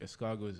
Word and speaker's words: escargot: caviar caviar escargot escargot it's not don't pronounce the tea escargot is such a delicious